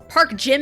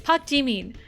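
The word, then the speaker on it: Park Jimin: Like, uh, again, Pakim turns into Park G. Park Jimn. It's like, no. Ah, that felt so wrong for me to say. It's Pakin.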